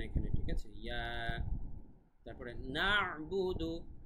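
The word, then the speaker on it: نَعْبُدُ: তারপরে না'বুদু, এখানে কিন্তু আইনের উচ্চারণটা ক্লিয়ার থাকতে হবে, না'বুদু এভাবে।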